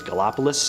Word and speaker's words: Gallipolis: Village of Gallipolis Ohio not sure if I'm pronouncing that right but I think it's galopolis this sighting happened at